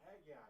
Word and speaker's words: Haggai: Steve, do you know how to pronounce Hagggai? Hagggai. Oh, Haggai.